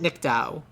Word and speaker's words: Nicdao: Her name is Charlotte Nickdow. Nickdow is spelled Nicdao.